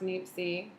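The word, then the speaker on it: Niépce: Joe Niepce, pronounced Niepce, was actually the first person who was credited for the first photograph, taking the first photograph.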